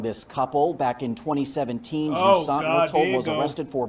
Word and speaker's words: Joassaint: And I said her name wrong. It's Joassaint. I thought it was Joassaint, but it's Joassaint.